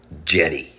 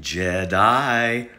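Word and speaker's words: Djedi: magician are you ready his name was Jenny sometimes pronounced Jedi for all you Star Wars fans in 1823 archaeologist and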